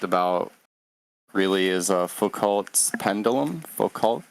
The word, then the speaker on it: Foucault: Foucault, am I pronouncing it correctly? Yeah, Foucault pendulum.